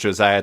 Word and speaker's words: Josiah: It's Josiah, right? That's how you pronounce it?